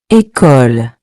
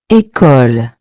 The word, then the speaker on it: école: This accent gives the E a clear, closed sound, similar to the A in the English word, say.